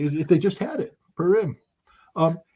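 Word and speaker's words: Purim: know what uh and I mispronounced it but it's not purm it's PM I guess the holiday you know what the holiday if they just had it perim um it's the celebration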